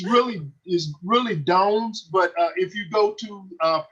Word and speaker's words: Dones: But the American pronunciation that my family uses is Dones, like Jones.